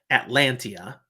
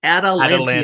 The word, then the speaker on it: Atalantia: You just said Atlantia, and I keep saying Atalanta, but it's Atalantia. Atalantia. There you go. There's a lot of syllables to her name.